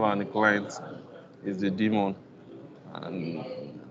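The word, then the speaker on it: daemon: the client is the demon and the demon is spelled d a e m a demon is like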